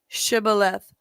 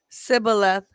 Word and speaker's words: Shibboleth: If he replied no, they would say, "All right, say Shibboleth." If he said Sibboleth, because he could not pronounce the word correctly, they seized him and killed him at the fords of the Jordan.